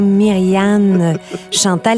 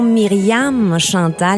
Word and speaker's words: Myrianne-Chantale: bravo martin - moi mon nom c'est bien myrian chantal et non myriam à chantal y en a plusieurs qui font cette erreur là c'est vraiment comme ça qu on le prononce comme si la fetwa